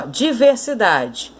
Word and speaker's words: diversidade: Agora a palavra diversidade, ó, diversidade. Última, penúltima sílaba. A mais forte, então, de diversidade, ó, é a penúltima sílaba.